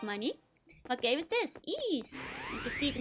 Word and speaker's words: Ys: Ease.